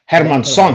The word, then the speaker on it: Hermansson: Hermansson. Hermansson. Hermansson. Okay. Yeah. It almost sounds like Hispanic, like Hermansson. That's how Puerto Ricans will call you. They'd be like, that's Jack Hermansson. Oh, Yeah, Hermansson.